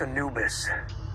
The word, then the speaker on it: Anubis: ship's called the Anubis anubus it's pronounced Anubis Egyptian god of the Dead Anubis works too okay if we're going